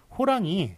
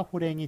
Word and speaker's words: 호랑이: 그래서 호랑이와 지팡이가 맞습니다. 호랭이, 지팡이라고 발음해서도 써서도 안 되겠습니다.